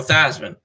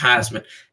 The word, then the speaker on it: Theismann: Joe Theismann. That's why they call him, Joe Theismann, not Theismann. They did it to rhyme with Heisman and hard I in there. So can't say Theismann without the letter I.